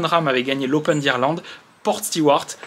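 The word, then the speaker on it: Portstewart: Le lundi, on aura le parcours où Jon Rahm avait gagné l'Open d'Irlande, Port Stewart, qu'il faut prononcer Port Stewart, si tu veux le faire vraiment irlandaise.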